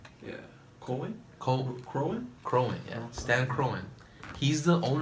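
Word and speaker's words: Kroenke: His name is Stan Koken. That's his name. Is that how you say it? How do you say that name? That last name? Yeah. Cohen? Crowan, yeah.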